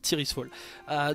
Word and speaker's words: Tirisfal: Vous comprenez pourquoi maintenant on appelle ça Tyr's Fall. Donc, prononcez idéalement Tyr's Fall.